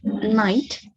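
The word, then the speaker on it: knight: So for example, in the word night, K-N-I-G-H-T, we have a K, but we don't pronounce it when we say the word.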